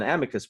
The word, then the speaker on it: amicus: I call it an amicus brief, but you had a different pronunciation. Amicus. I think it's because I was a Latin student.